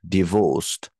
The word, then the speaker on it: divorced: first one is done divorced second syllable is stressed like divorced divorced and then married